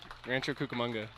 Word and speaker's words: Rancho Cucamonga: move as you've grown up in, let me pronounce this correctly, I hope I'm right, Rancho Cucamonga? Rancho Cucamonga, California.